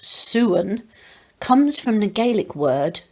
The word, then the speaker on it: sowens: the word sowon's actually pronounced soon comes from the gaelic